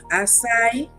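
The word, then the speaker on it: açaí: Oh God, acai.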